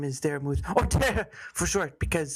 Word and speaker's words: Dara: All right, your pronunciation is off. I said Dara not Dara.